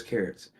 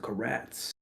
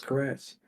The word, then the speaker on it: Karatz: carrots right it was at first it was pronounced carrots then rest in peace the primary reason guy